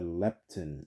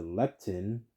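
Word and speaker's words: lepton: money of their own one piece was the leptin and it's spelled l e p t o n a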